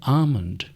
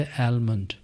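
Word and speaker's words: almond: सही तलफुज है आमंड। आमंड इसमें ए आ की आवाज दे रहा है। और एल साइलेंट है। यह लफज़ है आमंड। और इसे वो बार-बार बोल रहे थे एलमंड।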